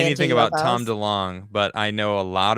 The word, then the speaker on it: DeLonge: DeLonge.